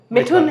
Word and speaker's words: Mithun: What is द मिठुन है? मिठुन इज the correct pronunciation.